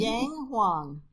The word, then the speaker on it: Yang Huang: Well, you want to pronounce her name? Yang Huang. Yang Huang.